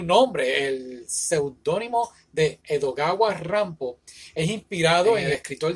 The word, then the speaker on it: Rampo: que hizo fue que combinó la pronunciación del nombre pom con la pronunciación japonesa que sería Rambo y entonces pues de